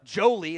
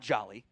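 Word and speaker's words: Joly: Um, uh, Jolie is how that's pronounced. It's not Jolly. Jolie, uh, I think offers some pass catching.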